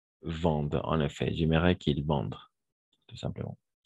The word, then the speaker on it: vendent: J'aimerais qu'ils vendent, tout simplement. Parce que ENT à la fin, on ne prononce jamais.